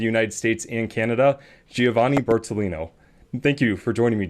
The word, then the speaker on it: Bertolino: Giovanni Okay, I'm Bertolino. Italian, so I always try to take pride in my pronunciation.